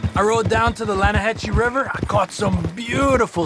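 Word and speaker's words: Lannahechee: some beautiful steelhead trout you mean the Lana hash no no no no the Lana hacci it runs right near here yeah but it's pronounced land it has why is everything in English said differently than it's written make us feel stupid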